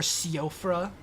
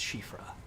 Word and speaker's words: Siofra: Worst case, I can go to like Shifra and see what Shifra has, or Siofra, as some people insist on pronouncing it. I'm 99% sure that it's Shifra.